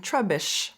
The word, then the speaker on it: Trubbish: Or if you're teaching how to break the syllable between the double B, trub, bish, or that the double consonant makes the U vowel short.